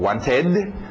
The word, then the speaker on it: wanted: Às vezes é um ed, som de ed, como want, ficou wanted.